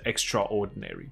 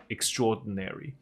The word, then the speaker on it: extraordinary: game， extraordinary 就是 ordinary 是。平凡普通的，加一个 extra 在前面就是不平凡不普通，所以是很优秀的。An extraordinary，它的发音不是 extraordinary，不过我在一些歌曲里面听过唱歌的人的确把它唱成了 extraordinary，可是我们一般在口语上就只是念成 extraordinary。那这个 dina 的部分，di 的部分，有的时候那个 din 还不发出来，用一个鼻音带过去，extraordinary 也是对的，OK。So, an extraordinary game that any action fan will go nuts over.